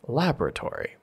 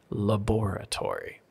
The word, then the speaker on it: laboratory: And like Sherry said, for the US, we say laboratory. This is why we say the lab or lab rats. But for the UK, it's the laboratory. And the stress is on that second syllable. Same word, same meaning. Everyone knows what you're saying, but the stress switches.